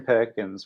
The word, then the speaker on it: Perkins: your name is kieran perkins which rhymes with gherkins do you like to